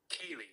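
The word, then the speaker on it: ceilidh: Irish folk mussic but how do you pronounce it oh Kaye Kaye I knew that my couple from January is goingon to be like we said it 18,000 times at Kaye like the name k Kaye that's what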